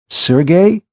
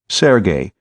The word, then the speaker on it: Sergey: she'd been playfully pinched Sergey you mean Sergey pvic the fiend of Florence she pronounced the name properly Sergey instead of Serge as too many people were prone to do sounds like the same